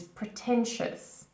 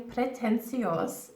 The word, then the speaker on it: pretentious: say it correctly now the correct pronunciation of this word is pretentious pretentious again these are you're not saying pretend see us no okay ours and